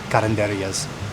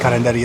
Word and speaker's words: karinderya: karinderyas as well, and they keep pronouncing it karinderya. No, not even like that. It's like karinderya, and I want to like shake them through the camera, through their video, and say that's how you pronounce it.